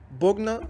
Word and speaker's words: Bogna: İlk olarak burada Bogna aynen böyle okunuyor, merak etmeyin.